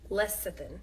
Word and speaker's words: lecithin: how you say let me look at see lecithin yeah that's right remember if you get that